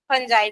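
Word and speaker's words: fungi: देखो मोनेरा को sorry फंजाई को कई लोग फंगी पढ़ते हैं क्योंकि उसका spelling F यू एन जी आई है तो फंगी भी बोलते हैं बट फंजाई बोलती हूं मैं फंजाई ही मेरे ख्याल से रियल उसका प्रोनाउंस है।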